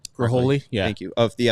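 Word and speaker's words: Ghiroli: Graholi, yeah.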